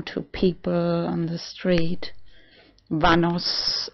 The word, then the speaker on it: Vanos: people on the street vanos it rhymes like a vamos a la playa but written within okay and I have